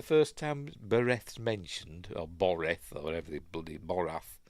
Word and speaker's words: Boreth: it is anyway so it goes to Bor boreth it's pronounced and he has his vision obviously he